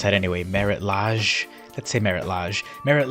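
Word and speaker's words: Marit Lage: know the card that fuels my nostalgia is Merritt Leigh jizz slumbers how do you pronounce that anyway Merritt Lodge that's a Merritt lodge Merritt lodges slumbers so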